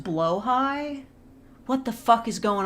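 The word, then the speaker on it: Blåhaj: Oh, it's pronounced blowhigh?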